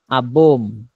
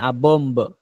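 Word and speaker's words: bomb: বোম একটি বোমা। শেষে বিয়ের উচ্চারণ হবে না, ঠিক আছে? বোম্ব এভাবে যে বলবেন, বোম্ব, শেষে বিয়ের উচ্চারণ হবে না।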